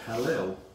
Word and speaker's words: Hallel: spelled D-U-K-A-N, recited what is known as the Hallel, which is spelled H-A-L-L-E-L.